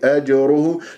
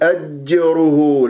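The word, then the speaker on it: أجره: الجيم المقلقله قلقله الصغرى في كلمه اجره لا تقول اجره لا تطل الوقوف على المخرج راح تروح منك القلقله ما قلقله هذه راسا تضرب المخرج السريع اجره اراء مفخمه لانها لانها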